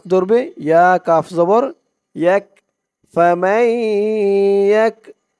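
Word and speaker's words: فَمَن يَكْفُرْ: এই তাসরিদ ইয়া ধরবে মিম ইয়া জবর মাই ফামাই মাই বলে আবার গুন্নাহ করতে হবে ইদগামে বাগুন্না ফামাই নুন সাকিনের পরে ইদগামে বাগুন্নার হরফ তাসদিদ সহকারে ইয়া আসছে ফামাই ইয়া দিয়ে কাফ ধরবে ইয়া কাফ জবর ইয়াক ফামাইক ফা দিয়ে র ধরবে ফা পেশ ফুরাইফুরাই বা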